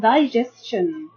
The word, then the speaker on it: digestion: And then we have the word digestion. Digestion is noun. Okay. And we can divide this word into 3 syllables. We have di, the, I. Then we have j, s, jess. Then we have shin.